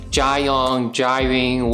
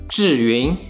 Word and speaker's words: Zhiyun: you may heard people say it is called John driving whatever but trust me it is pronounced as doing its Chinese it means smart clouds in Chinese